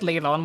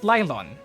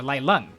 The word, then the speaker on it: Leilon: have to call it lylon or lailan which is how they pronounce it within the town itself from the natives you also know that